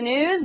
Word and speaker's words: Gnooze: and welcome to the news the g is silent Iranian president mmud amadan